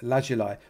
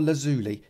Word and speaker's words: lazuli: and getting some of this lapis lazuli or lazuli if you want to say it wrongly and put that in